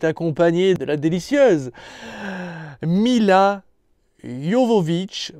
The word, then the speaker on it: Jovovich: Et forcément, il est accompagné de la délicieuse Mila Jovovich, parce que je crois que ça se prononce comme ça, Jovovich, et pas Djokovic, hein, comme on pourrait le croire, qui incarnait, comment elle s'appelait dans Resident Evil?